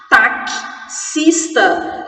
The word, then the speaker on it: taxista: Porém, quando eu falo taxista, eu tenho um K e um S, que não existem na escrita.